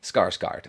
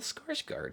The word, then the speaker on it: Skarsgård: to say bill skarsgård I think it's bill skarsgård it sounds right to me that sounds like that's the correct pronunciation here we go Hey skarsgård skarsgård well so it's not it's not bill but it's close enough it's Alexander so skarsgård okay that's correct okay good enough